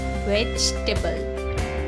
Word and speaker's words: vegetable: Now this word is a challenge because it looks like there should be 4 syllables in this word. Vegetable. But there's not. There are 3 syllables. Vegetable.